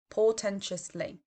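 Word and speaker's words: portentously: way they've said something it's four syllables poor tentis lee portentiously now this is quite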